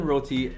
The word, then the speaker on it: roti: get into so wait how do you say this because i heard some people saying brody oh my gosh oh my gosh i'm saying like that's okay roti okay roti we got some chickpeas